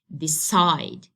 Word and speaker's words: decide: As the rule says, I have to stress the second, okay, or the last syllable of this two-syllable verb. So I have to make the stress here, okay, on the top side of the second syllable or the last syllable, let's say. So it will be said like decide, decide.